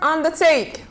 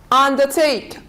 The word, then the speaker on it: undertake: casting then we have the verb undertake undertake under and take a compound verb we stress on the second part a compound noun we